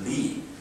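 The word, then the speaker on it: 礼: Likewise, Confucianism seeks the roots of everything from universal moral order called benevolence, pronounced Ren in Chinese, righteous, pronounced Yi, courtesy, pronounced in Chinese Li, wisdom, Zi, and considered these moral orders are immanent in human.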